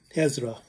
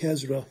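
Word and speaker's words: Hijra: Also called Hezra, I think. Hezra, I think is how they say it in Arabic.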